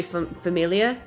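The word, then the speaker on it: Familie: And so in German, Familia, it's spelled, like family, but then like with an IE at the end. So it just looks like family, because anything with an IE would just be another E, but it's actually Familia. Ah. So you have to pronounce that E that you would normally I drop.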